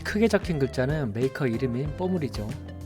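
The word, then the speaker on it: Pommery: 적힌 글자는 메이커 이름인 뽀므리 뽀리는 마지막에 모음으로 끝나기 때문에 알파벳 그대로 꼬리라고 읽어 주시면 됩니다이 뽀므리 샴페인도 마찬가지로 당도는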